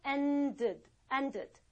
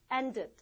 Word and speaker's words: ended: 또 이런 경우 t로 끝나는 경우만 우리가 또 발음을 이유불문하고 ed 이렇게 읽어줍니다. 그래서 end 끝났다, ended. Okay, the movie ended.